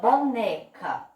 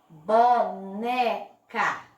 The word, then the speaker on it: boneca: Boneca. Boneca. Percebam que a sílaba que eu falei com mais força, que eu coloquei um pouquinho de força na minha boca para falar, foi o né.